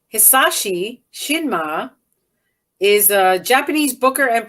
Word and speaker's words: Hisashi Shinma: Hisashi Shinma is a Japanese booker and promoter and is